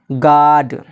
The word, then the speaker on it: guard: अगर यू के बाद ए या ई में से कोई एक हर्फ हो, कोई एक शब्द हो तो यू हमेशा साइलेंट रहता है। जैसे गार्ड, यू के बाद देखिए यहाँ पे क्या आ रहा है, ए आ रहा है।